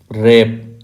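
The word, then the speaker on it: wrap: इसमें L silent है रेप इसमें W silent रैप mains लपेटना जॉब इसमें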